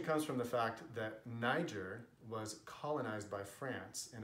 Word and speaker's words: Niger: when I'm speaking Catalan niger should only be called me share if you're having a complete conversation in French so since we're on